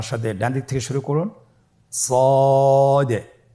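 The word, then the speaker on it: صاد: শুরুতে আমরা শুরু করছি সদ। সদ হরফটি পুর হরফ। মোটা হরফ উচ্চারণ ক্ষেত্রে মোটা করে পড়তে হবে এবং উচ্চারণ করার সময় তিন আলিফ টেনে পড়তে হবে।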